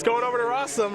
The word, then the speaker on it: Rosum: it's going over to rossum rhymes with awesome against andrews solano i